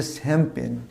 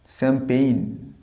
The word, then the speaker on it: champagne: আচ্ছা শ্যাম্পেন এই ওয়ার্ডটা দেখো, এটাকে আমরা ভুল উচ্চারণ করি শ্যাম্পেন, এটা শ্যাম্পেন নয়, উচ্চারণটা হবে শ্যাম্পেইন, একটা হস্যই থাকবে শ্যাম্পেইন।